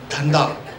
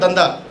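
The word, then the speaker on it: धंधा: Dhanda. Perfect hona chahiye na. It is not Danda. One day it might become Danda. Dhanda, dha.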